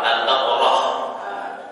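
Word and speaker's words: البقرة: Kalau diwaqaf bacanya apa? Al-Baqarah.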